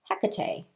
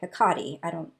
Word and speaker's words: Hecate: And the companion book talks about how that this is a sacred blossom, and in the middle is Hecate or Hecate, depending on how you pronounce it.